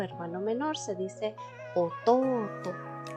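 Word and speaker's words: 弟: Hermanito o hermano menor se dice Ototo. Larga pronunciación, cuidado, aquí vemos una U, ¿verdad? Igual les voy a dejar abajo en la cajita de descripción el video que habla sobre las largas pronunciaciones. Entonces, Ototo, hermanito.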